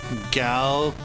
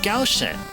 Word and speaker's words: gauche: Gaukshe? Gaukshe. Captain, is that actually legit how you pronounce it?